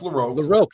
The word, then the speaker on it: LaRocque: Greg larocque Greg laroque it's pronounced laroque thank you and Joe